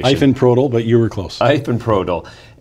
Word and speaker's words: Ifenprodil: And I'm sure I screwed up that pronunciation. Ifenprodil, but you were close.